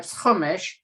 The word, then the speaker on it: Chumash: but it's really humash i mean humish is more yiddishi but hamish comes from the hebrew word hamesh which means five and it's the five books of moses it's called the humish you would spell it c-h-u-m-a-s-h like chumash but humish and to me the